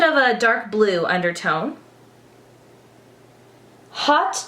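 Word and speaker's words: haute: a dark blue undertone hot chocolate but it's spelled ha u t e and midnight kiss which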